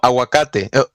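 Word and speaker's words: aguacate: do this all the time they change the pronunciation of wars and they think they're correct about it like avocados no awakate what avocados no aak I mean it's not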